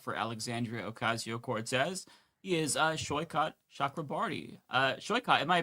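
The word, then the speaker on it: Saikat Chakrabarti: He is Shyot Shakrabarti. Uh, Shyot, am I pronouncing your name correctly?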